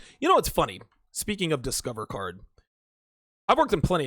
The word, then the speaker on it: Discover: it'd be like yo it is discover not discovery right like if my name is donoven I don't want you to call me de Noven or Donna Vaughn no call me Donovan pronounce their name correctly it's Discover Card not discovery hi yeah yeah one